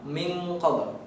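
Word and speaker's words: مِن قَبْلِ: Min qabl. Ada eng-nya di sana di tengah-tengahnya. Min qabl.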